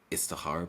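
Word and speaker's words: Istikhara: But can I before that, can I just make one comment about the Istihara prayer?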